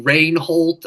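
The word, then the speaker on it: Rehwoldt: English is um with Matthew rain Holt I believe is the pronunciation who does commentary for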